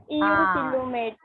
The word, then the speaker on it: eucoelomate: यूसिलोमेट. यूसिलोमेट. तो इसको हम प्रोनाउंस करेंगे, लाइक उसका pronunciation will be eucoelomate, but that is EU, that is the true cavity in the body.